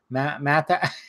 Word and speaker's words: Matthau: Matthau.